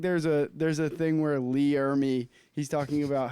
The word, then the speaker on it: Ermey: I think there's a thing where Lee Ermey, he's talking about how, is that how you say it? Lee Ermey, yeah. Ermey.